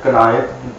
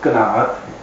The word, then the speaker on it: قناعت: عام طور پر بچے جس طرح سے قناعت بول دیتے ہیں, جماعت بول دیتے ہیں, اس کا تلفظ اول تو وہ غلط کر دیتے ہیں. اصل میں یہ لفظ قناعت ہے اور قناعت جو ہے